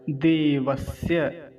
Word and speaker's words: देवस्य: अगला शब्द, देवस्य, देवस्य।